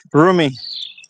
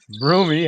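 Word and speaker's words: Rumi: Broomie. Broomie. A roomie or broomie? Broomie. You say it like if it was your roommate, but it's not spel. Is R U M I?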